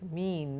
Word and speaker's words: mien: M-I-E-N pronounced as mean, not mien, and of cautious mien, of careful mien, that is a bearing, a personality that is cautious.